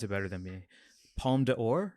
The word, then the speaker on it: Palme d'Or: Please pronounce it better than me. Palme d'Or? Palme d'Or, yeah.